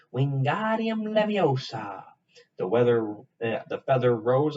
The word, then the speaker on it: Wingardium Leviosa: having much more luck wingardium leviosa he shouted waving his arms long like a windmill just saying it wrong harry heard her mighty snap it's wingardium leviosa make the gar sound nice and long you do it then